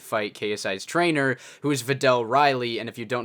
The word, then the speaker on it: Vidal: KSI's trainer, who is Vidal Riley, and if you don't know who that is, he's actually a professional boxer. Someone tell me the pronunciation, Vital. I mean, you can't even say Vidal, right?